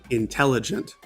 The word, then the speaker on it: intelligent: Intelligent, intelligent. Playful, playful. Object, object. Object, object. time, time. All right, and here are our answers. Intelligent is a 4-syllable word, and the second syllable is stressed.